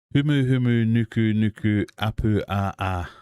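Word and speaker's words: humuhumunukunukuāpuaʻa: Oh, we have a pronunciation. It's a High School Musical song. Humu humu nuku nuku apu a a.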